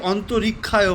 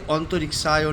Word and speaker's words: অন্তরিক্ষায়: অনেকে অন্তরিক্ষায় বলে, কিন্তু না, সংস্কৃতে স্পষ্ট উচ্চারণ হচ্ছে অন্তরিক্ষায় নম।